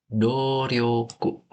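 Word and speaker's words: 努力: Ini itu jawaban yang benar itu Dorioku yang nomor 3 pendek guys ya jangan panjang.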